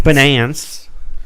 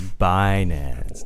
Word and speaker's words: Binance: words of Janny Yellen banan ban banan bonance it's binance no she said it right once she said it